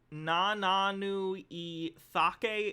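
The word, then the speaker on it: Nananu-i-Cake: We have the C in Nananu I Thake is pronounced with a TH.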